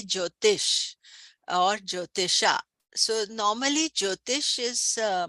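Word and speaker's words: Jyotisha: Uh Sanskrit which is more classical like uh the old ancient language uh usually if you're doing the correct pronunciation you would say jotisha.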